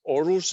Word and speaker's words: Aarhus: That is basically it's pronounced Aarhus. It's very because this is this is the Scandinavian O.